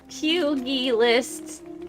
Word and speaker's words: pugilist: Pugilist. Pugilist? What? Doesn't matter, but if you care, it's pronounced pugilist.